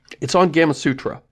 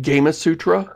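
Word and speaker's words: Gamasutra: it's on Gamma Sutra, which I feel strongly we should be pronouncing it Gamma Sutra, since, you know, the beginning of that is from video game, but everybody calls it Gamma Sutra, which makes it sound like it has to do with gamma radiation.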